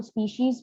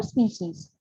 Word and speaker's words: species: Then we have स्पीसीज इज a group, और कई बच्चे इसको स्पीशीज भी बोलते हैं, दोनों ही प्रोनाउंसिएशन जो है वो अलग अलग एक्सेंट में सही है। ठीक है, बट आई प्रेफर स्पीशीज।